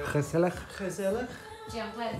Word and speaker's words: gezellig: But just not hygge, it's called gezellig.